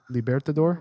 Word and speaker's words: Libertador: tonight and the uh libertador how do you pronounce that libertador libertador yes that is a lcdh exclusive double